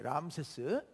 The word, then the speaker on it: 람세스: 라암셋 이게 이제 지금 그쪽 발음으로 람세스예요. 람세스.